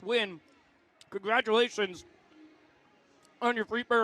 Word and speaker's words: Nguyen: It looks like Nguyen. It's pronounced Wynn.